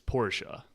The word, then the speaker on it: Porsche: People want us to pronounce it properly. Sorry, Porsche. Porsche. Yeah. Sorry. Porsche. But she I feel like people say Porsche. Yeah, for sure. The actual pronunciation is Porsche.